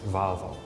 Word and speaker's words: Volvo: on the dialect um I can I can see many Italians pronounce it Volvo yeah you have like an a sound in your and AR is very clean oh I also heard that pronounce in America as valvo I think it also